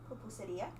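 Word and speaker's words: pupusería: Pupuseria. Pupuseria.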